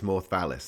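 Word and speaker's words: Mawrth Vallis: But like your book, am I pronouncing it right as Mawrth Valliis? That's how I've always pronounced it. Perfect.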